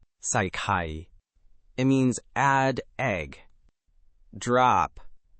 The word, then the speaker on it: ใส่ไข่: ไข่ก็เสียงเอกค่ะ Oh, the word for egg is also a low tone. So both drop. Let me try it slowly. ใส่ไข่ ใส่ไข่ It means add egg.